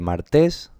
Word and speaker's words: martes: Son 2 sílabas y ¿qué se dice? ¿Martes? No, ¿verdad? Se dice martes. Aquí era pared, el acento estaba en la última, aquí es martes, el acento está en la penúltima.